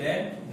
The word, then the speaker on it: read: रीड रेड रेड, READ, रीड रेड रेड। रेड तो होता है लेकिन स्पेलिंग रीड ही होती है, स्पेलिंग सेम होती है, प्रोनाउंसिएशन डिफरेंट होता है।